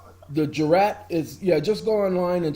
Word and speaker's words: jurat: Sounding like jury. Jurat.